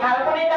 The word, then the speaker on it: ফাল্গুনি: এই ফাল্গুনিটা আমরা কিভাবে উচ্চারণ করবো, এখানে ফার সাথে ল, ফাল, তারপরে এটা দেখো ভেঙে ভেঙে উচ্চারণ করবো, ফাল্গুনি।